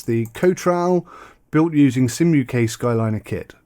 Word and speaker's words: Cotral: Cotral, I think it's how it's pronounced.